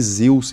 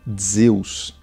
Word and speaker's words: Zeus: O som do zeta, a primeira letra de Zeus, no grego mais antigo era pronunciada como DZ, então seria algo como Zeus.